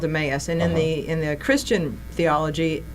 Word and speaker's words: Emmaus: came together, and we started this thing called Emmaus.